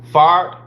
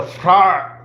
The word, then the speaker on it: Fard: The R needs to be rolled, but you can be pronounced it Fard, Master Fard, or Master Fard. The R got to be rolled. Master Fard, Master Fard, Master Fard. That's how you truly pronounce it. Master Fard. Like the R got to be rolled, but Master Fard is understandable too.